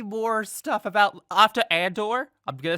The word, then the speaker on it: Andor: wait wait wait wait wait is it and or on door and or that's how it's pronounced in the shark oh okay that's pronounced Cassian Andor why did I think